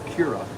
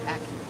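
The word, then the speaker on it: Acura: a loud argument that it's not akira it's accurate so it the sheesh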